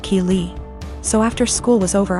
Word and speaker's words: Keeley: I realized she was calling my daughter Kelly my daughter's name is Keeley pronounced Keeley so after school was